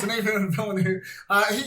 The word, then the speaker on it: Denis Villeneuve: Denis Villeneuve, he's built a good reputation for I do sci-fi, but it's serious.